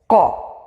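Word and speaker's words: ق: You have to close your throat here, the beginning of your throat. Qa, qa, qa.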